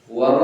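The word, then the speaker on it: و: Nah, si kedua hurufnya adalah huruf wau. Huruf dari dua bibir lag diul dinakan perut bibir dalam eh bibir bawah. Wau wau itu baca wau. Wau mulut yang manyun manyunan juk bibir wa baru ditarik.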